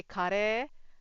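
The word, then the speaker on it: カレー: You you don't you you don't say it in a long tone. If you say kare then it means curry.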